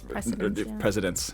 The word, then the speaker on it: precedent: Lawyers make their money off reading historical cases to create precedents. Yeah, so we're talking about grammar. You're still not saying it right. Precedent. It's a soft C.